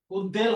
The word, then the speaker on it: উদ্বেল: তাহলে উপসা হবে না উদ্বেল হবে না আর উদ্বেল হবে উদবেল যা লিখেছি সেটাই আচ্ছা এবার আমরা বফলার উচ্চারণ পাঁচটা একটু রিভাইজ করি।